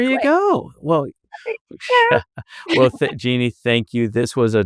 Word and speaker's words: Jeanne: again, your name is Jeanne. It's not spelled like Jeannie, but it is Jeannie, and Boyd Curtis, and they're spelled exactly like they sound.